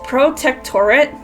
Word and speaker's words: Protectorate: She was there when Topper betrayed the Protectorate, and I keep pronouncing the name wrong. It's Protectorate, but it's a confusing ass name.